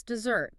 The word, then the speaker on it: dessert: Maybe it's vegetable, deciding you'll stop saying 4 syllables. Or maybe it's dessert, consciously putting the stress on that second syllable next time you talk about it.